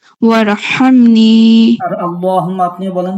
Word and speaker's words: اللهم: আর আল্লাহুম্মা আপনি বলেন তো। আল্লাহুম্মা। আবার আল্লাহুম্মা। হুম্মা না, এটা হচ্ছে ধাক্কা দিয়া হা। আল্লাহুম্মা হা যেটা ধাক্কা দিতে হয় সেই হা এখানে।